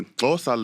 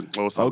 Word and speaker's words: Xhosa: Now, the Xhosa language, you have to do it with the click.